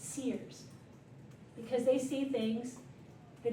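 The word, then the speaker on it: SIRS: Um, Riselle came on later and so uh they are Sears is S I R S because insider has two I's in it. Um, so it's pronounced Sears because they see things that even us older folks don't see.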